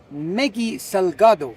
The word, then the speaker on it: Meggy Salgado: Today I'm going to have an interesting conversation with a congresswoman from the Mexican Parliament, Meggy Salgado. Did I pronounce that correctly?